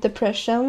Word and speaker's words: Depression: I have Depression, where the P is silent, and Cheese is this one.